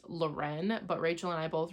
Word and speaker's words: Loren: is Lauren um it is said that it's pronounced Loren but Rachel and I both refuse to pronounce that way because it's literally spelled like l-o-r-e-n Lauren the world was good and the like main